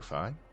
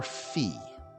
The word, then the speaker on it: Fi: Len rumine thank you fine that's a good question for those that have played this or have seen me playing Ed would you pronounce that as fi or fee personally it's fi it's like f f